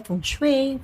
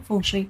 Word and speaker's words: feng shui: [nililinis ang lalamunan] But according sa fungue, fungsue pala ang tamang pronunciation non.